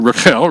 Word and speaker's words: Rachel: It is Rachel, that's how you say her name in Hebrew, Rachel.